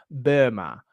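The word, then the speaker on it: Böhme: So, I don't speak German, but I know that you're technically supposed to pronounce his name Burma.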